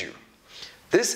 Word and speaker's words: youth: TH is pronounced in 2 ways. The first one is V. The second one is just air. So this is pronounced as youth, youth, youth.